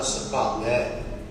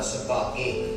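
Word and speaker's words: ਸੁਭਾਗੈ: वाचे पंच शब्द तित घर सुभागै, इहदा पाठ करने वेले ज्यादातर सुभागे इकलां दा पाठ कर दिता जाता है। तो ध्यान करना है सुभागै भाव सहित दुलावां दा उच्चारण। दूजी गल फिर इत्थों शुरू हुंदा है, घर सुभागै, इथे दुलावां।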